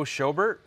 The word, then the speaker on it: Schobert: Joe Schobert.